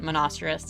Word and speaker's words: Monoceros: looking at monasteris or monoceros but we're going to pronounce it monasterous tonight just like rhinoceros but with an m-o-n sound at the beginning um and monocerous is